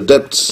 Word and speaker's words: debt: Yes, the money servicing we use to service the debts. Yes. Or the owners of the language say debt. She don't pronounce the B.